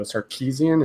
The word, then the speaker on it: Sarkisian: So Sarkisian, is that how you pronounce it?